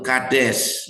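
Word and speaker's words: קֹדֶשׁ: Kados ini Ibrani yaitu kades bacanya dengan makna holiness, secretness atau kekudusan.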